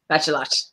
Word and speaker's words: Bachelot: Bachelot. Like Lancelot. Yeah.